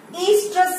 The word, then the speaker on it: oestrus: That cyclical change in non-primates, it is known as estrus cycle. Estrus, where O is silent, so that is known as estrus cycle, while in primates we will say it as menstrual cycle.